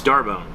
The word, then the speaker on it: D'Arbonne: to pronounce it and she says oh it's it's darbone now I'm gonna put right here how it's spelled D apostrophe a-r-b-o-n-n-e which makes you think it's like it's very French uh and she was